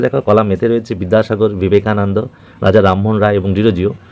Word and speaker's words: বিবেকানন্দ: কিন্তু আমরা বিবেকানন্দ বাংলায় উচ্চারণ হলেও কিন্তু বিশেষ বিশেষ যারা খ্যাতনামা ব্যক্তি বিশেষ বিশেষ ব্যক্তিবর্গ প্রোনাউন সরি প্রপার নাউন তাদের ক্ষেত্রে কিন্তু ভি দিয়ে শুরু হবে বিবেকানন্দ ঠিক আছে যেরকম বিদ্যালয়